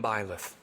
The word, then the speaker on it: Byleth: Can't remember how you pronounce the name. Byleth? Pilith? I am Emblem Byleth.